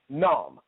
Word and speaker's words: Khnum: I don't think you pronounce the K and the H. So I'm just going to say Num.